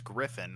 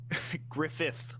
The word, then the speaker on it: Griffin: yeah i mean as someone whose name is griffin i've had to deal with a lot of people either misspelling or just miss saying my name over the course of my life so i mean griffith was usually the most common one i am still i'm